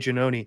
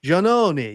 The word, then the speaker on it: Giannone: her face and she's, "Oh, Janoni, that's not how you say it, Janoni."